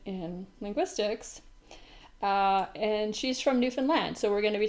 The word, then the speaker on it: Newfoundland: It's called Newfoundland and Labrador, and they both get final stress. And I think that helps a little to remember how to say it.